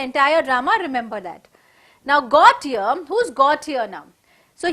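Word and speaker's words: Gautier: okay in the entire drama remember that now got here who's got here now so here the l is silent okay remember that it's not goldia it is got here gautyer is a pastry cook he's always very very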